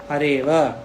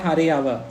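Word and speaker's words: हरेऽव: उच्चारण नहीं करते हैं no उच्चारण for avagraha how Swamiji said is correct hareva not hareyava hareva vishnova not vishnova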